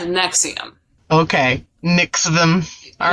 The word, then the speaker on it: NXIVM: some nexium afterwards but it's not the same next team it's actually spelled like nxivm but it's sad nexium okay mix them all